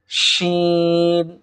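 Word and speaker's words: شين: এরপরে scene scene scene, আমার সঙ্গে উচ্চারণ করতে থাকুন, সিন শিন শিন, অর্থাৎ জিহ্বার মধ্যখান তার বরাবর উপরে তালুর সঙ্গে লাগিয়ে দিলেই শিন হরফটি আমরা পেয়ে যাব, শিন শিন।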